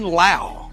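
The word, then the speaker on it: Lowe: 2-0 instead they're 1-1 brandon lau spelled l-o-w-e but pronounced like charlie law though the old hitting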